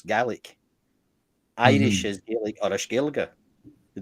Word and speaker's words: Gaeilge: Irish is Gaelic or Gaeilge. They don't really say Gaelic in Ireland, it's Gaeilge.